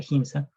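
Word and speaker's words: Giemsa: Por ejemplo, bueno, los cromosomas teñidos con el colorante GIMSA, se escribe como GIMSA, se pronuncia GIMSA, despliegan estriaciones denominadas bandas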